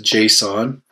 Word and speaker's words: JSON: It's pronounced JSON, and it's a library that, ultimately, it's a very simple format for displaying what can be pretty complex data.